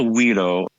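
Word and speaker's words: güiro: is that thing um it's called a weedo it's spelled guui r o and they were originally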